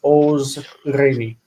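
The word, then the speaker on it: עָזְרֵנִי: And when you add any as an object suffix, azor becomes similar to a long form imperative because you've added a couple of syllables to it. So it's ozreni.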